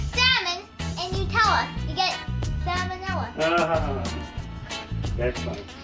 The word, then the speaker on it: salmonella: sure you don't get salmonella all over the place. Salmonella. Salmonella. It's Salmon. salmonella. It's spelled salmon the way you spell fish, and N-E-L-L-A like Nella flavors. Only it's with an E.